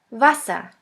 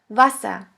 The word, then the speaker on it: Wasser: The next one is V, V, which sounds like the V in the word van. The German word with the letter V is Wasser, Wasser, which means water.